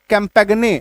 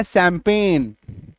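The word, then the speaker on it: champagne: ये देखो जैसे सी ए एम पी ए जी एन ई हम लोग इसको पढ़ेंगे तो लगभग ये कैंपेगने ऐसा कुछ साउंड आएगा। बट ये क्या सैंपेन।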